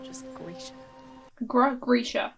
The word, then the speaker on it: Grisha: not just greeter greg grisha not dresher you know but i'm